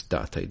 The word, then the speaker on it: Date: Is that how you pronounce it? Yep, Date.